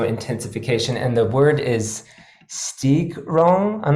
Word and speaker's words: Steigerung: And the word is Steigerung. I'm not sure how to pronounce it. Steigerung.